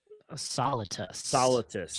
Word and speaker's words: Solitus: Soltis, Solitus. Solitus. That's Just how you say it. just Solitus, not Darth Solitus, Yes.